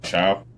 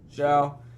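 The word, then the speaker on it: Shough: 21 to 25 is Kyler Murray, Aaron Rodgers, Daniel Jones, Tyler How do you pronounce his last name from the Saints? Show. Show.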